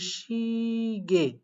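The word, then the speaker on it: 시계: করে দেখেন, শি গিয়ে, তাহলে এটা উচ্চারণ করতে পারেন শি গি এ, অথবা শুধুমাত্র শিগে। আমি একটু আগে বললাম যদি আপনারা দেখেন ইয়ে, তাহলে সেটাকে শুধুমাত্র একার হিসাবে উচ্চারণ করতে পারেন। শুধুমাত্র কি হিসাবে? শুধুমাত্র একার হিসাবে উচ্চারণ করতে পারেন। তো সেই অনুযায়ী এটা শুধুমাত্র শিগে পড়লে হবে।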